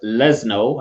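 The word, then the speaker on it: Leszno: that um l-e-s-z-n-o yeah english speakers normally pronounce it as lesno i think but it's what would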